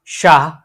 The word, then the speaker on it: Shah: more you know weightage we are giving on H when we when we speak when we pronounce sha so it's moving to the h you know like for example if someone's surname shah so in that we'll not use sa we'll use sha okay we'll use this so we'll